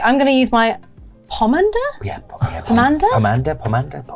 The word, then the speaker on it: pomander: Okay, I'm going to use my pomander. Yeah, pom. Pom. Pomander. Pomander. Evolves into pom. It's a medieval word, so I should know, but I don't know. Pomade. Pomade is the thing, right? It's pomand.